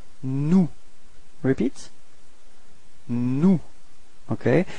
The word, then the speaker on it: nous: And then first person of the plural, it's nous. Repeat. Nous. Okay. So you've got this final S, but you don't pronounce it.